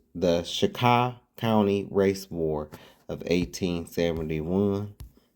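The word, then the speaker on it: Chicot: Some some pronounce it Chicat County, but the correct pronunciation is Shika. Shika. So, it's the Shakah County Race War of 1871.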